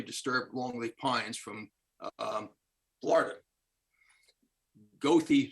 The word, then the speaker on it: Goethe: Goethe State Forest, not pronounced as the Germans would pronounce it, but that's how they pronounce it in Florida.